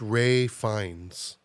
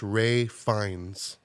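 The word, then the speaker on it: Ralph Fiennes: name is pronounced uh it's not pronounced the way it's spelled no so it's pronounced Ray fines how's it spelled if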